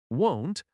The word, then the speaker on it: won't: For example, won't and want are often confused in pronunciation. Won't has a long o sound.